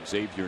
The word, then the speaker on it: Xavier: So Ankiel is the first out here in the 5th, and now Xavier Nady's the hitter. It's Xavier, Sarge, but it's Xavier University. The X is pronounced in Xavier's name.